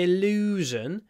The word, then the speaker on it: illusion: an illusion illusion just make sure that when you say illusion you don't add a y because it's in Russian you might want to say illusion but it's not illusion it's illusion ilusion it's a harder l in English illusion without the Y illusion illusion next